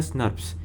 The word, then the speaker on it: snRNPs: The removal of इंट्रॉन्स is promoted by small nuclear ribonucleoprotein particles, that is SNRNPs, pronounced as SNRPs.